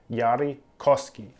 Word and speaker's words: Yari Koski: decisions i feel like i'm trying to say his name with an accent but it's yari koski anyway yari sent me